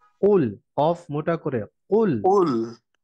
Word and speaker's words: قل: কুল এর মধ্যে কফটা মোটা হয়ে উচ্চারণ হবে, এটা খেয়াল قل রাখতে হবে।